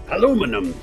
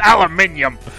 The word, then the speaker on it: aluminium: unfathomable to be sure I'm surprised you can pronounce that yeah unfathomable It's s aable unflappable aluminum get out of there it's it's aluminium Al I'm all for romance and for supporting